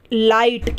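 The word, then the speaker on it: light: जी एचटी है इसमें आई के बाद जी एचटी है तो आई को हम आ ई पढ़ेंगे और यह जो जी एच है ये साइलेंट रहेगा तो यहां पर लाइट क्या पढ़ते हैं इसे लाइट आ ई ठीक है आई के लिए आई हो गया और यहां पर जीएच साइलेंट है ला इट ठीक है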